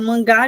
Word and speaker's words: mangá: E se a depender de onde fica a sílaba tônica, falar em mangá já é uma outra coisa.